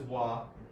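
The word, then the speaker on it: は: One of the most common particles is wah. Now this that part that haggana syllable is pronounced as wah in this case and a few other cases even though normally it's ha.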